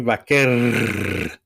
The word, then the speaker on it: Vaquer: You white boys got to roll your R's. Stephanie Vaquer. She's Chilean, right? So that's the proper way to do it.